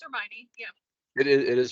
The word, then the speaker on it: Hermione: and I and I think I'm saying her name wrong is it her it's Hermione yeah it is it is Hermione a lot